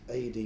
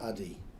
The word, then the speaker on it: Adi: it's Adi, not Addy.